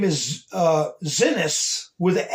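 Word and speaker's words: Xinis: Her name is uh Zenis with a X. Okay. X I N I S. Zenis.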